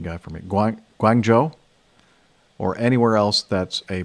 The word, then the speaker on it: Guangzhou: just, in my ear, tell me how to pronounce these things. Okay. So, here we go. Guangzhou is Guangzhou.